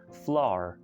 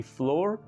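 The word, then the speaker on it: flour: ऐसे ही लिखा हुआ आपने देखा होगा फ्लोर, लेकिन इसकी करेक्ट प्रोनाउंसिएशन है फ्लावर, फ्लावर। ओके, जो कि एक फूल की इंग्लिश है, उसी तरह आप समझ लें कि इसको बोला जाता है। इसकी फ्लोर रॉन्ग प्रोनाउंसिएशन है।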